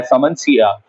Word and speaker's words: Simmondsia: इसकी स्पेलिंग अगर आप बुक में देखेंगे तो लिखा हुआ होगा SIMMONDSIA, लेकिन इस डी को साइलेंट किया जाता है और हम पढ़ते हैं सेमोन्सिया चनेसिस।